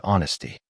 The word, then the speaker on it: honesty: And for our listeners, let's highlight the word honesty. It means telling the truth even when it's hard. Stress the first syllable, h-o-n-e-s-t-y.